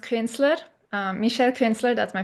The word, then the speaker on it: Künzler: Um, so it's pronounced Kinsler.